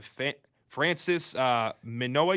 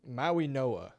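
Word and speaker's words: Mauigoa: Nine, Bengals grab Fisoa, you said. Maui Noah, I think is how you say.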